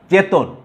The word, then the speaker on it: চেতন: তাহলে 3 বর্ণে গঠিত শব্দের প্রথম বর্ণটি যদি এ হয় তাহলে মধ্য অ এর উচ্চারণ উকারের মতো হয়েছে যথারীতি।